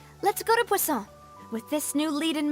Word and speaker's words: Poisson: Wait, how do you pronounce that? Poisson. It's like I'm saying croissant.